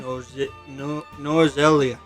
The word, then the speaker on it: Norzelia: Norzelia.